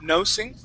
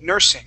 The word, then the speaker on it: nursing: is nursing okay so instead of uh pronouncing that like no nosing we want to say ER Nur nursing try that please nursing